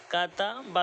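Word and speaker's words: كَتَبَ: বা জবর বা কাতাবা তিন অক্ষরের শব্দগুলো পড়ার সময় সহজ একটা নিয়ম হলো প্রথমত আপনি দুই অক্ষর বানান করে উচ্চারণটা এডজাস্ট করে ফেলবেন যেমন কাফ জবর কা তা জবর তা এই কা তা দুইটাকে একটা করে ফেলবেন কাতা এরপরে একটা পড়বেন বা জবর বা কাতাবা তাহলে সহজেই হয়ে যাবে কাতাবা নুন জবর না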